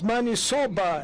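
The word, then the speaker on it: maniçoba: The interpreter could interpret it correctly because it's manisoba, as you pronounce it.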